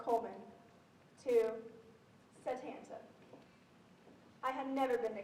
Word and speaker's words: Satanta: Satana, I asked. No, he said. Satanta. It's spelled Satan with a T-A.